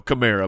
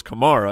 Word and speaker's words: Kamara: problem with camara because when they said hey alvin how do you say your last name he's like well i go with you know camara but my mom goes kamara and you're like wait